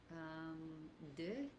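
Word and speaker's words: des: De. Eh oui, exactement. It would be... Alors, how do you spell that?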